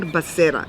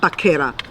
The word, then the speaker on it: Becerra: Xavier Becerra, not Baquera.